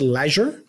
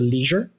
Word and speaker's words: leisure: Some people pronounce it leisure.